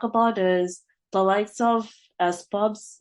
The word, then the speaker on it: SPUBS: is the lights off as pubs is that how you pronounce it as pubs or s p u b oh yeah s pubs yep yep yep yep I